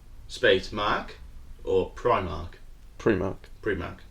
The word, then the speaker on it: Primark: in it yeah right um how do you pronounce premark premark what p r i space Mark or Prim Mark Primark prar correct like before Mark like pre prear